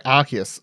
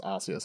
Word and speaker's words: Arceus: Sorry, Arceus. I keep saying it incorrectly, even though I officially know it's now pronounced Arceus after however many months of talking about this game in the lead up to release.